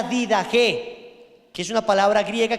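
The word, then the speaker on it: Didache: tenemos la did ge lo encuentran como did Que también o did Che pero la pronunciación es la did ge que es una palabra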